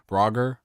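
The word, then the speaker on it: Braugher: 99 before but uh Andre uh Brower I believe it's say pronounce bra brogger um he played Captain Holt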